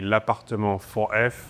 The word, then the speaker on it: L'Appartement 4F: The official pronunciation would be l'appartement 4F.